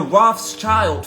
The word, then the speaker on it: Rothschild: Germany, that is the Rothschild family. Let's go into it. They opened their first goldsmith shop under the name of Red Shield. In German, in German tongue, that's pronounced Rothschild or Rothschild.